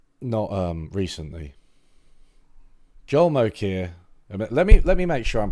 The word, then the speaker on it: Mokyr: Mokyr. Mokyr. More people seem to think Mocha. Mocha. I think it's Mocha. An economic historian studied how